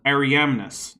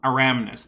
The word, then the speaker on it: Ariamnus: This is Ariamnus, not Aramnus. There's an I in there.